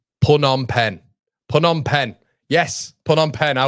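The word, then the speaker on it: Phnom Penh: How do you pronounce pronunciation pun on pen? Pun on pen.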